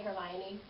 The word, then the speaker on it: Hermione: That reminds me of when Harry Potter came out and everyone learned how to say Hermione.